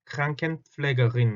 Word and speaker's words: Krankenpflegerin: 자, Krankenpfleger에 대해서 그 여성형도 당연히 Krankenpflegerin 할 수 있겠죠. Krankenpflegerin. 이건 발음이 굉장히 까다로운 단어 중에 하나예요. Kranken 할 때 R 때문에 힘들고 플래그 할 때 P